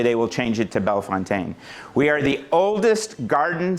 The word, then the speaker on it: Bellefontaine: the cemetery chronicler at, watch my pronunciation, Bell Fontaine Cemetery and Arboritum. Uh, people ask all the time, where did Bell Fountain come from?